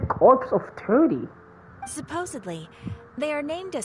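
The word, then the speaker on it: Corps of Thirty: what a weird name also silent P and S it says corpse of 30.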